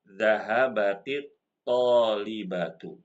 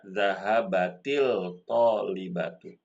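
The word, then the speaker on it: ذهبت الطالبة: Maka bacanya zahabatit tolibatu. Jangan kita baca zahabatil tolibatu.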